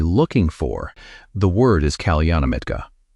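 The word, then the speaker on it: kalyāṇamitta: The word is kalyanamitta. Say it like kalyanamitta.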